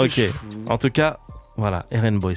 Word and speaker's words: RnBoi: je fous En tout cas, voilà, RN Boy, c'est comme ça qu'il faut le prononcer.